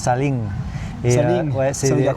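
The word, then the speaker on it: ซาเล้ง: C'est les Saling. Ça se prononce Saling.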